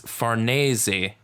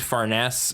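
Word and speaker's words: Farnese: actually don't know and it's faresi cuz she's Italian so oh yeah okay that makes sense I just assumed faress and was thinking in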